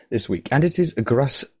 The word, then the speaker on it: Gruss: I do, in fact, have a guest this week, and it is Gruss. Gruss? Am I pronouncing it right?